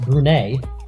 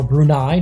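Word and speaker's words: Brunei: Kazakhstan and now Afghanistan against brune or brunai depending on how you want to pronounce it but here on marel Cubo we're going to pronounce it brune there in the yellow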